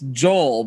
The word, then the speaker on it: Joel: Is it Yoel? It's Joel, but in Spanish. But you're fancy Spanish. You know how to say it. Joel, like Joel no L.